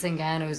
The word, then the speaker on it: Ngannou: Francis Ngannou's a bad motherfucker. I pronounced his name perfectly correctly that time, too.